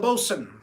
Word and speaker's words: boatswain: And then you got the bosun, the boatswain as it's spelled, the hull track.